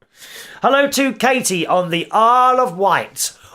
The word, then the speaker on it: Isle of Wight: Hello to Katie on the Isle of Wight, also known by some of us on the mainland as Isley Widget, because that's how it's spelled.